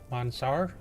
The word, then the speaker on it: Mansur: is my surname, so we don't pronounce it, and my name is Mansur, so we can just say it like man. Sounds like Mon from Monday. Okay, Mon. Okay. And Sur sounds like sour. Monsar.